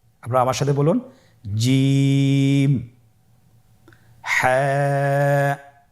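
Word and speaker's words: جيم: এর মাখরাজ হলো জিহ্বার মধ্যখান, তার বরাবর উপরের তালুর সঙ্গে লাগিয়ে উচ্চারিত হয়।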